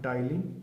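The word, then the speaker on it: ptyalin: एक का नाम है टाइलिन, पी साइलेंट रहेगा, टाइलिन।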